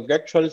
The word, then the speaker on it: Götzschel: Como ya dijiste, mi nombre es Goetschel, se pronunciaría en alemán. Un poco complicado. Toda mi vida en Venezuela fue tratando de decir mi apellido correcto, pero está bien, perfecto.